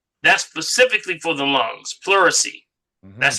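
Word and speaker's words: pleurisy: Puricy. Okay. That's specifically for um that's specifically for the lungs. Puricy. That's spelled P L E U R I S Y.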